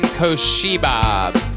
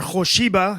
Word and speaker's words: Kosiba: the name of Kosiba. Kosiba. Kosiba. All right, guys, my name's actually Kosiba, or Koshiba, if you say in the original Aramaic dialect.